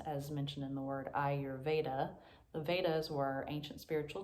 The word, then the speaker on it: Ayurveda: the dreaded pronunciation of ayurveda so the way that i was taught was to think i your veda ayurveda as i mentioned